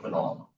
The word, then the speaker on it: phenol: Um it's some version of a phenol. Um and just a note about pronunciation. We overemphasize the O part here because fennel is different.